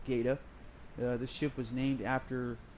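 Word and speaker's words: Gaede: My other ships I've got, I have a Tier 5 Gaeta, which that's how it's pronounced. G-A-E-D-E is pronounced Gaeta.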